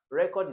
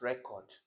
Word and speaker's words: record: Take this record. So where is the stress on record? Remember that there is also record, which is record this album, record this track for me, which is like a word, an action word.